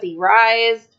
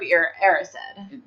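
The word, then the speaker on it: Erised: I've always pronounced it as he rised but it's er the mirror of arised but that's also one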